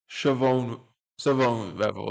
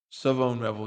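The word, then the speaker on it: Shavon Revel: Sioone Sone Revel, excuse me, Sone Rebel, it's pronounced Sone Rebel Jr.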